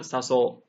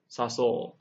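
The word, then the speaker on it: さそう: So not saso, saso, sakebo, hakobo. We want that long O at the end.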